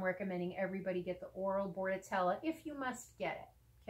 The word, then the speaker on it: Bordetella: everybody get the oral board at Ella if you must get it okay and Bordetella is spelled Bo AR D not boa Rd it's an unfortunate coincidence that it sounds like boarding and that vets often